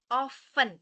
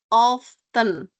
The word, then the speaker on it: often: Often without T. Often. Okay. No, again, often without T. Often. Oh gitu. Yep, that's correct. The pronunciation is often without T.